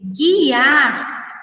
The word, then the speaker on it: guiar: Quando nós pronunciamos essas palavras, esguicho, sangue, guiar, nós não pronunciamos a vogal U, ok?